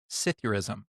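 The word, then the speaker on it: psithurism: It is pronounced cithurism.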